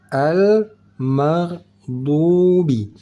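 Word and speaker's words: المغضوب: mag Nah di sini ghairil mag jangan pakai mag mag enggak pakai g di sini karena ghin bukan termasuk salah satu dari huruf Qalqalah cara bacanya di sini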